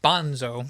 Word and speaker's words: Bonzo: I learned that Bonzo's name is pronounced Bonso, so I also messed that up.